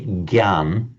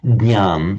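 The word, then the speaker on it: jñāna: So for example, you'll hear some for example, in Hindi, it's pronounced as if it were written a G-Y, a G. So the Hindi speakers just say Gyan. Marathi speakers say what I think what I've just been saying, the correct Sanskrit pronunciation was Jnan. So that's how it would be pronounced in Marathi. We now know there's Jnan in Sinhala.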